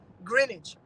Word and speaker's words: Greenwich: Greenwich. Grin like when you're smiling, age like when you're old.